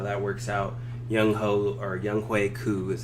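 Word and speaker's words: Younghoe Koo: Young Hui Koo is how it's actually pronounced, but you know everyone pronounce it my Young Ho Koo.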